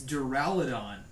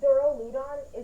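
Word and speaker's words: Duraludon: the right way it's deraladon okay but duro ludon isn't wrong because dura is the latin word for hard and that's how you pronounce it dura so daryl ludon isn't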